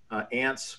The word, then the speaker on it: ANTS: I think it was called ants was they was how you pronounce the acronym but it took a